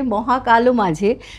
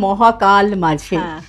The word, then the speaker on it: মহাকাল: মহাবিশ্বে মহাকাশে মহাকালো মাঝে, ছোটবেলায় যখন পড়েছি তখন মহাকালো মানে মহাকাল নয় মহাকালো, সে একটা কালো গহ্বর দেখতে পেতাম, অনেক পরে জেনেছি এটা মহাকাল মাঝে, কিন্তু আমরা গানের সময় উচ্চারণ করি মহাকালো মাঝে। এইটারও তো একটা কারণ আছে না, যে আমরা অকারান্ত দিয়ে উচ্চারণ করি কেন।